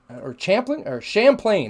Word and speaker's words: Champlain: The northernmost portion of Lake Champlain, Champlain, that's how it's pronounced, Champlain. The northernmost portion of Lake Champlain is located in which Canadian province?